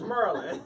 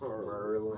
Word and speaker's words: Maryland: You can't tell me how to pronounce my state. Right, And exactly. it's Maryland. It's Merlin. That's how we say it. With 3 R's. What up, Gerald? Merlin. Merlin.